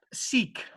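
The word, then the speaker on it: Siq: there so s-y-k and s-i-q um spells seek pronounced seek anyway i've got i've got myself lost there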